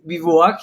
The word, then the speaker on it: bivouac: find a name of it, and Ciel Mon Bivouac, it was kind of good. So this is a good point to ask you about how exactly do you say the word, because in Hebrew, the word bivouac is something we use because there's no something